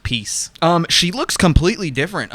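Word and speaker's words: Piesse: was french yeah p-i-e-s-s-e-n but it's pronounced piece um she looks completely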